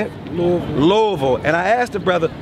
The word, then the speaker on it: Louisville: my brother Demetrius brothers from Louisville don't say Louisville say Lord what how do you say it Louisville and I asked the brother who his favorite